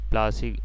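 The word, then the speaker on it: Plassey: तो यहाँ देखिए क्या पूछा गया है, डिड you know प्लासी, प्लासी को अपना नाम कैसे मिला? प्लासी इज एन एंग्लिश pronunciation of प्लाशी, द प्लेस, वैसे नाउ में प्लाश,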